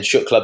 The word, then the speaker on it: Shukla: So guys, and then Shukla, both spelled phonetically, like as you'd say it, S-H-U-K-L-A.